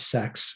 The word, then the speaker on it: CeX: game stop and yes they do pronounce it as sex when you hear about